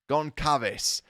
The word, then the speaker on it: Goncalves: It's a Hispanic last name. It's not Goncalves or Goncalves. Goncalves.